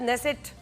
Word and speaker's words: नेसेट: Israel की संसद को नेसेट कहा जाता है, स्पेलिंग जरा अलग है, KNESSET, जिसे आम भाषा में हाउस ऑफ रिप्रेजेंटेटिव्स या पार्लियामेंट भी कहते हैं।